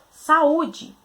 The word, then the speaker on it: saúde: E a gente tem na separação de sílabas sa, u, d. A gente tem o u tônico separado em uma sílaba. Então, a gente tem aí a presença de um hiato. Então, a palavra recebe acento por ser um hiato.